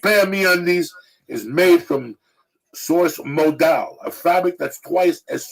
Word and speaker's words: modal: every pair of meundies is made from Source modal a fabric that's twice as soft is cotton okay pronounced modal m o d a l nothing can describe